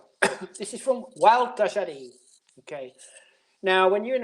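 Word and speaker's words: Gualtallary: So it's pronounced Wild Tajari. Just think of someone called Walter and someone called Gary and just put them together, Wild Tajari.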